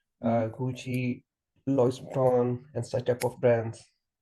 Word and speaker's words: Louis Vuitton: Louis Vuitton. That's the pronunciation of it.